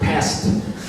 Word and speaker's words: Pest: English speakers like to pronounce it as Budapest, but I do not like the sound of the word pest. There are no pests there. It's Pest.